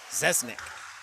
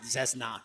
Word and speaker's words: Zesnak: Zesnik. Zesnik, I'm told. Zesnak, actually. I'm told that's how you say it.